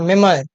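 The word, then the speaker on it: memoir: मेमोयर में अगर हम इसको रीड करेंगे तो देखिए इसका प्रोनाउंसिएशन ऐसा होता है, मेमोयर, मेमोयर, तो इसमें कहीं ना कहीं ओए का साउंड या अए का है, ठीक है, तो ये गलत हो जाएगा।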